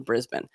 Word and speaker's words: Brisbane: sport in the 2032 par Olympic Games in Brisbane so after La Australia and you're welcome for pronouncing that correctly everyone yes uh fig elections